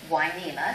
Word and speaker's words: Hueneme: to the Spanish version, Hueneme, spelled with an H and a U to make the W sound.